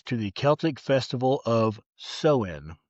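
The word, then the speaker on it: Samhain: The holidays roots trace back over 2,000 years to the Celtic festival of Sewin, which is spelled S A M H A I N. How that is sewen, I'm not sure.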